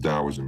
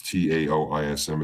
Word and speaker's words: Taoism: You're going to see Gnosticism, Taoism, spelled with a T, but it's pronounced Taoism. It's Taoism.